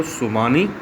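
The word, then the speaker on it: tsunami: इसको बोलते हैं बच्चों सुमानी। इसकी स्पेलिंग शुरू होती है TSUMANI।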